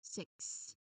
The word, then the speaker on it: six: what are these letters combination of letters K and S for the letter X because the pronunciation of X is so combination of K and S. Okay. So when you try to articulate it, pronounce it, um you must ensure that your audience clearly hears that final, you know, double sound blend.